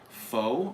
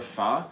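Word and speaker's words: phở: those what we saying faux or fa it's pronounced fa but it's spelled pH so it's it's like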